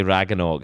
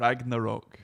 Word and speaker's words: Ragnarok: I'm going to say Ragnog is not correct. Ragnarok.